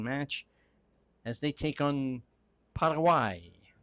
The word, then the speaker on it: Paraguay: as they take on Parawai. As I understand that is how they say it in Spanish. You may know it as Paraguay Ball on the far side.